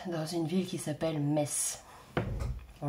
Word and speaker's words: Metz: Je suis actuellement en vacances dans le Grand Est, dans une ville qui s'appelle Metz. Bon, le T ne se prononce pas.